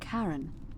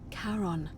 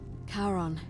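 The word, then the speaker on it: Charon: It's just as you described it, only your pronunciation is a little off. The name you heard wasn't Karen. It was C H A R O N. As in Karon, the fairyman of the dead. Karon, who in exchange for the right coin, helps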